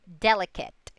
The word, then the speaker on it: delicate: More than 2-syllable words ending in silent E. Cross off the silent E and count back 3 vowel sounds. The accent usually falls on that 3rd syllable.